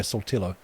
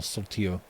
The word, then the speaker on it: Saltillo: A piece of music called A Necessary End by Saltillo. Or Saltillo, maybe. Probably. Doing the very British guy pronouncing probably a Spanish word. Saltillo. Alright, mate, like a tortilla.